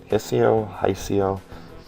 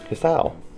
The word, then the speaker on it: Hisao: Okay, Hisao. I'm gonna pronounce it that way, because that's what the internet said.